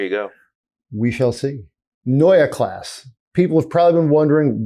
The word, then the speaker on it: Neue Klasse: We've seen so first of all, Neue Klasse, that is my terrible German pronunciation. In English, that just means new class. So for the remainder of the show, for the sake of not getting ourselves tongue-tied, we can just say new class. But Neue Klasse is the proper pronunciation.